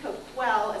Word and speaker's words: Coquille: Siuslaw, 86, Klamath, 89, Coquille for the city, Coquille is how the tribe says it's pronounced.